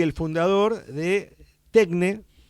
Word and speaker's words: Tekne: Rigoberto es el CEO y el fundador de Tecne. No Tecne, sino Tecne. Tecne, Tecne, sí. Ok, porque la versión griega es Tecne. Es Tecne, sí, sí.